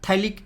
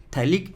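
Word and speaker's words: phthalic: इसको हम बोलते हैं थाइलिक एसिड। P है ना, P साइलेंट है, थाइलिक एसिड, इसको बोलते हैं क्या? थाइलिक एसिड।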